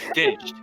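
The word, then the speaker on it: Dincht: Yeah, it's Ditched. It's spelled D-I-N-C-T.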